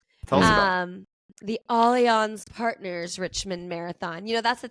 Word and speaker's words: Allianz: Because it's spelled Allianz, like ALL, but I like Googled it to have them respond, like to have it said to me, and it's Allianz, and I think it's French.